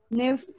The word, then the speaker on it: knife: We have some other words like this one. This one, we pronounce it. How do we pronounce it? Knife. Knife? Knife. Knife. Very good. Knife. Knife. Casi. Knife. So in this case, as you can see, we don't say knife, right?